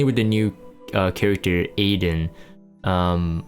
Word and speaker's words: Adin: the new uh character aiden um adeen i think actually that i think it's a dean in terms of like the pronunciation of how i heard it uh phonically in korean um so adeen um